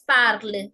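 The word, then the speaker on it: parlent: Here, our rule is that we don't pronounce the NT in the end. It's parle, marche, savent.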